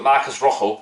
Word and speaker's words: Marcos Rojo: trans Evo Marcos Rojo you may not know this but Marcos Rojo that's how you pronounce it by the way a